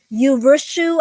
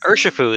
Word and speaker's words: Urshifu: Was it Urshu? I can't even pronounce it. I'm so bad at names. Urshifu is what I say.